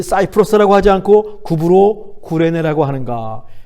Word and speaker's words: 구브로: 근데 왜 이 사이프러스라고 하지 않고 구브로 구레네라고 하는가? 헬라어의 발음이 구브로 구레네에 더 가까워서 우리 개역성경이 그렇게 번역을 한 것이죠.